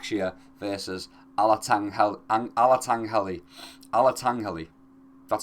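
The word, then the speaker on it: Alatengheili: Alatangghali, that's how you say it.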